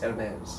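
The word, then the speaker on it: Hermès: kind of actually so i would go for like no h and just like hermes right ah chanel chanel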